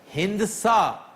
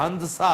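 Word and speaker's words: ہندسہ: तो यह है कि हिंद सा लफ्ज गलत है यह हसा है इसकी दाल तकरीबन साइलेंट है यह हंसा है दाल वैसे अमन साइलेंट ही होती है इस हे और दाल दोनों पर जब्र है इसलिए यह हंसा है हिंसा गलत आम दाल लिखा जाएगा पढ़ा नहीं जाएगा नहीं पढ़ा भी जाता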